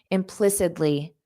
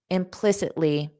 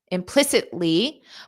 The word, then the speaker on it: implicitly: Native speakers pronounce that T as a soft D, implicitly, implicitly. You can say implicitly, but then it causes this pause and you can't get to the ly.